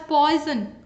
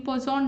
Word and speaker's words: Poisson: next for poison distribution don't pronounce it as poison i know some of students pronounce it in that way for poison distribution 88 question mean and variance are always equal in poisson distribution next if a